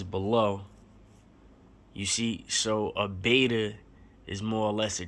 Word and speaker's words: beta: You see, so a beta is more or less a trial. So it rhymes with theta.